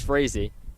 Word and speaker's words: Frazee: Looks like it is pronounced just how it sounds, Frazee.